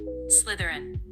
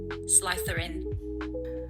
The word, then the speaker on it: Slytherin: First, US. Slytherin. Now British. Slytherin.